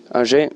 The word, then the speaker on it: Angers: And first time in, how you pronounce the Angers? Angers, okay.